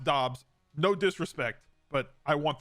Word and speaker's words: Dobbs: bad to be in pennsylvania damn it romeo dubs i know his name is pronounced dobbs no disrespect but i want the big dubs